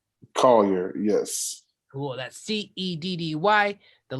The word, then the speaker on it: Collier: Collier? Collier, yes.